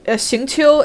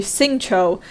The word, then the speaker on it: Xingqiu: Like, for example, Xingqiu in Genshin is actually Xingqiu in the English dub.